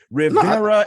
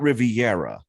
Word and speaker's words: Rivera: names specifically spanish names why rivera is not riviera no i say rivera